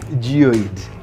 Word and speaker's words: Geoid: Geoid. That is how it's pronounced.